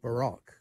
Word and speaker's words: baroque: in England, the folk baroque. We pronounce it baroque rather than baroque, which would be John Rembourne and Bert Jansch from Pentangle, for example.